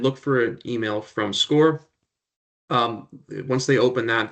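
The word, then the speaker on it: Scoir: They might pronounce it squire, but it it definitely is pronounced score.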